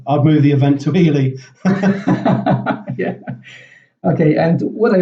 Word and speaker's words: Ely: I'm currently living in one of the smallest, not the smallest, but one of the smallest cities in England, which is called Ely. It's spelled E-L-Y.